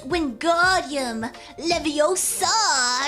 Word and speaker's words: Wingardium Leviosa: version of it and they're like no no it's Wingardium Leviosa or something the meme yeah